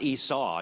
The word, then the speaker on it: Esau: His name is pronounced Esau, and you know how you can remember that?